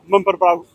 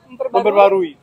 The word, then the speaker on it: memperbarui: me to say was memperbarui. Memperbaharui? Yeah, Memperbarui? memperbarui. That was it was getting the mum and the per together, and then going baruhi, or barui afterwards.